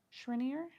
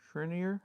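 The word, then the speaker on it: Schreiner: to be haunted the is it Shriner s c h r e i n e r Shriner how do you pronounce that properly Shriner Shriner Shriner Shriner oh know um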